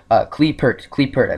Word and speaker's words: Qliphort: Qliphort. They put the R in there, so it's Qliphort Tool, right?